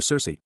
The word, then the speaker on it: Circe: The closest ancient name to church comes by way of the Odyssey, where Circe, pronounced with the hard ch sound, as the daughter of